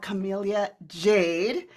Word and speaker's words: Camellia Jade: so excited for our guest today I have Camellia Jade with me today we were literally practicing how